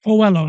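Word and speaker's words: Coello: How you pronounce it? Coelho, yeah.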